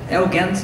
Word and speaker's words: Eugent: we are very happy Oh my name is elegance is pronounced okay okay okay you were you were